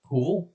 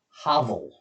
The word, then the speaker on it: hovel: Hovel? Hoovel? One of those words. Hovel. Rhymes with Pavel, the Russian first name.